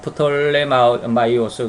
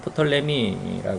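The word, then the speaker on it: Ptolemaios: 이집트전 애굽 지역인데 여기는 어 프톨레마이오스 그러는데 우리 발음으로는 프톨레미 하는 이러한 장군이 이제 왕가를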